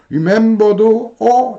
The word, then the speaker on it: remember: 이렇게 발음해요. favorite. favorite, favorite 이렇게 되겠죠. remember도 이거 위에 이에 여기에 액센트가 없고 에에 액센트가 있네요.